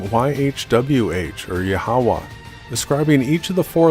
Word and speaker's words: Yahweh: The true name of the Creator is pronounced Yahweh, and for details on that research, please see my video, What is the True Name of the Creator and the Christ?